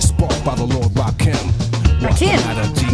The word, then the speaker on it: Rakim: Rakim, not Rakim. I knew I would say it wrong.